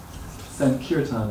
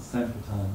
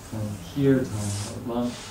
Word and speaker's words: Sankirtan: Sankirtan, by the way, not Sankirtan. That's one of the common mispronunciations. It's a long I. Sankirtan. The I is twice as long as the trailing, the last syllable, the off in the last one.